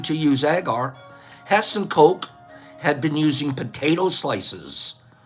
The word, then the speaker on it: Koch: In 1881, while her husband was working in the laboratory of the German physician and microbiologist Robert Koch, that's spelled K-O-C-H, Koch, he struggled with performing experiments on gelatin